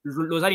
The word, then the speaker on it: Lusail: Losail, il me semble que c'est la manière dont on le prononce en français, et Lusail, Oui. c'est international. Donc voilà, on adopte Lusail.